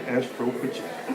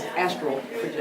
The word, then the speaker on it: astral projection: Make sure you pronounce it right, though. It's astral projection.